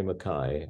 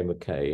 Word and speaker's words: Mackay: In Scotland, they say Mackay. I mean, I'm only of Scottish ancestry. I'm not Scottish really, but feel close to Scotland. But in Ireland, they say Mackay, and they spell it slightly differently. In Canada, they say Mackay, I think, and in the States, they tend to say Mackay.